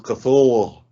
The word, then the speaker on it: Cthulhu: Oh well, if you want to know how it's actually pronounced, it's Cthulhu.